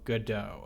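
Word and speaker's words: Godot: I pronounce it the non-German way. So, goodo.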